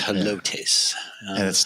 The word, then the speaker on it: Helotes: So people don't like to pronounce that correctly. So I wanted to make sure everybody knew that it's Helotes.